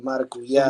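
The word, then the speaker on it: maracuyá: It's like that's how you say it, like with the Brazilians.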